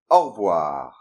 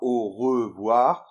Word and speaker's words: au revoir: And for the pronunciation, in general, we don't say "au revoir", we say rather .